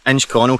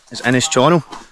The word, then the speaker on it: Innis Chonnel: hello and welcome the famous inch Corner Castle often wrongly pronounced is in his channel because that's how it looks written down this Castle behind me